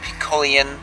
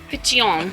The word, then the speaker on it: Piccione: Hey, we're at Piccione. No. Piccione. Okay. Like pitcher.